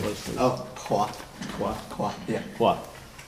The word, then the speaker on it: Hua: Oh, Qua. Qua. Qua, yeah. Qua. Spell that for me.